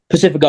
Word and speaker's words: Pacifico: Did I pronounce the last name right? Pacifico, yes.